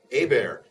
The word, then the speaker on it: Hebert: Hebert but it's actually a bear H is silent E is like an a little Louisiana French for you so H EB